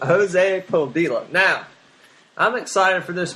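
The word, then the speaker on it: Jose Padilla: It's directed by Jose Podilla. Yep, that's how you say it. That's exactly how you pronounce it. Jose Podilla.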